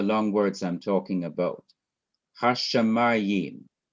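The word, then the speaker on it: הַשָּׁמַיִם: Hashamayim. Let's see how many syllables we have here. Hash, sha, that's second. Ma is third. Im is fourth. 4 syllables in this word. Here's another word, haaretz.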